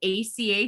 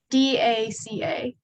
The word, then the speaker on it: DACA: I just wanted, I heard ACA students. I wanted to, DACA.